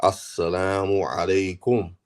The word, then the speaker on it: assalamu alaikum: and say assalamu alaikum and say it correctly, not sa alaikum or assalamu alaikum, not like that, not saying it like that, saying it correctly, assalamu alaikum.